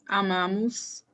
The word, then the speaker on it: amam: Eu amo, você ama, nós amamos, vocês amam. Amam. The stressed Amam. syllable is before last.